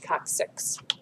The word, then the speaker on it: coccyx: So it has a hard C followed by a soft C, coccyx.